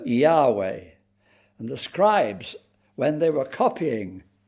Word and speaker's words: Yahweh: For centuries, people pronounced it Jehovah, but in modern scholarship, they prefer Yahweh.